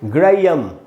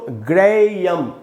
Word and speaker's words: Graham: गूच, है ना दोस्तों इसमें ये जो H है, ये सब लोग इस बात को नहीं जानते, उसका उच्चारण नहीं होता, ये H साइलेंट है। इसको पढ़ेंगे ग्रेयम। कैसे पढ़ेंगे दोस्तों? ग्रेयम। ये ग्रे है, फिर ई है, ये आधा अ है और म है, ग्रेयम।